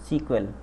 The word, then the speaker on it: SQL: ठीक है, इट is pronounced as सीक्वेल। एसक्यूएल को हम क्या बोलते हैं, सीक्वेल बोलते हैं।